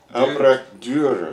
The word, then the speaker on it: Dürer: How do you pronounce his name? Albrecht Dürer.